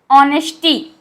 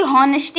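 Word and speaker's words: honesty: ऑनेस्टी can reform the mistake, यहाँ पे देखिए एच साइलेंट, ऑनेस्टी ना कि ऑनेस्टी से पढ़ा जाएगा, ध्यान से सुनिएगा इसका प्रोनाउंसिएशन, ऑनेस्टी ना कि हॉनेस्टी, यहाँ पे एच साइलेंट है।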